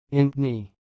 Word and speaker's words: Impney: the word you see it sounds like Anthony Anthony so I will repeat again int knee int knee that's all